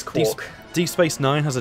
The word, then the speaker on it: Quark: I don't know how you pronounce him because I've been watching... It's Quark.